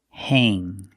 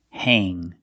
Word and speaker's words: hang: Whenever you see A-N-G, it is pronounced with the long A sound. A, like day and say. Pronunciation, hang, hang.